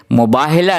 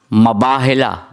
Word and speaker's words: مباہلہ: بھی فرماتے رہتے ہیں۔ انہوں نے مجھے کہا کہ مباہلہ نہیں ہے، مباہلہ صحیح، اگر میں تلفظ صحیح